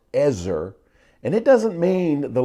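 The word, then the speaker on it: עזר: It's the Hebrew word pronounced ezer, and it doesn't mean the little assistant that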